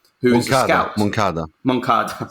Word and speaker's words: Moncada: and everything, together with Monsada, who is a scout. Moncada, sorry, yes, to pronounce it. We've learned that it's Moncada.